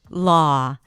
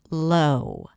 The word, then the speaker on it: law: And therefore, people sometimes pronounce it as low. Low. Low is a different word and a different vowel. There it's the O as in go. But here it's the A sound.